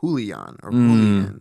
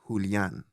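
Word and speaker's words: Julián: also people say like when they would try to say my name in Spanish it would be they'd just say Julian yeah and in Spanish is Julian so and for some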